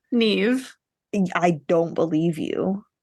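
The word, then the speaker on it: Niamh: cannot pronounce her name Neeve I don't believe you it is Neeve if you Google how to pronounce n a MH it's Neeve so Neeve which is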